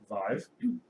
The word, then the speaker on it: Vive: cell phone it's pronounced it's pronounced um Vive it Rhymes it rhymes with five okay there you go